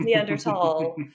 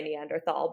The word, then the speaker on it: Neanderthal: in english- speaking circles you come off as a little pretentious if you say nander tall it's neander tall uh so it seems more comfortable uh when I'm based in the US to say Neanderthal but often if I'm